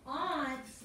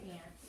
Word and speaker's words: aunt: If I had said aunts, which is how most of you pronounce it, I say ants because I'm from the South.